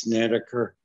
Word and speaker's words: Snedeker: members of the commission my name is snedeker it's snedeker i'm a candidate for